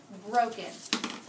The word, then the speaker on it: broken: So if you have the word like broken, well, the accent is on the first syllable, bro. Broken.